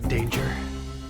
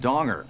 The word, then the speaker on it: Danger: Jack danger. It's actually pronounced donger.